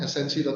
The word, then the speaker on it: snc.id: Bener kan ya bacanya snc.id ya? Barangkali salah nih Mas Bruce. Benar Mas, snc.id. esensi.id, benar.